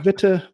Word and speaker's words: Witte: went with so my last name is fair game it's technically bitter but you know you can whichever way is fine yeah so and so